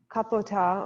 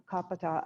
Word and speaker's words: Kapota: and garuda so uh kapota or kapita i believe it's pronounced is um was a